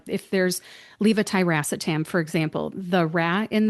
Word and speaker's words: levetiracetam: thing, like if there's levetiracetam, for example, the ra in there sounds like the ra in rat instead of the ruh, like a dog says rough.